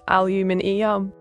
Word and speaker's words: aluminium: The correct pronunciation of aluminium in my posh British accent is aluminium.